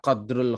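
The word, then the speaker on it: قدر: Langsung amma qadrul kharaj. Adapun kadar kharaj kan gitu kalimatnya. Qadru Nggih. dibacanya bukan Oh ya. qadar.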